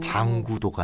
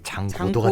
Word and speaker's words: 장고도: 장구도가 아니고 이제 장고도가 된 장고도. 거예요. 네. 됐네요. 아마 뭐 뭔가 충남 발음일 수도 있고 어쨌건 장고도.